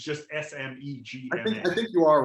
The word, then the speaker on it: smegma: I would just say smegma because I don't think there's an H, but I kind of like schmegma better.